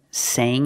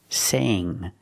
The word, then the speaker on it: sang: Sing in the present, sang in the past. Use the long A sound. Sang. Not sang, but sang.